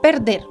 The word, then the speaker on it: perder: El verbo perder. Perder tiene dos sílabas. La sílaba tónica es la última y en esta última sílaba, que es la tónica, está la vocal E.